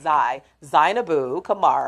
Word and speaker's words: Zainabu Kamara: No, it's not Zane, it's Zainabu Kamara. I'm gonna pronounce her name right.